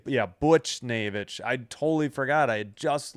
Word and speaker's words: Buchnevich: Buchnevich Yeah, it's like Butch Butch Butch Yeah, Butcher Well, let's just say Yeah, Buchnevich.